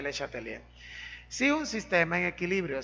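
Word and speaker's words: Le Chatelier: nombre de principio de se escribe de chátelier pero se pronuncia les atendía francés principio de leche atelier si un sistema en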